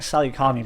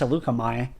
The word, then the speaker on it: Salukamai: I keep calling it Salukami, but then I realized, like, after last episode, that it's pronounced Salukamai. Auto-resolve that.